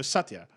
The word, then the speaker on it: Satya: Anyway, so Satya, I think is right. I think Sure. like I'll buy it. OG, that's the pronunciation, for but it.